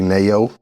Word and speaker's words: Naeo: And she go by the name of 803 Nayo. Okay. That's I think she from Columbia, from the Midlands area, and it's spelled 803 Naeo.